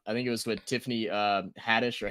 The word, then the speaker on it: Haddish: interview with I think it was with Tiffany Haddish or Hadish. I don't know how to pronounce her last name. Haddish.